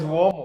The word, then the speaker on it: uomo: How do you pronounce that? Try it. Umo. And Omo. Omo. So clean. It's Uomo.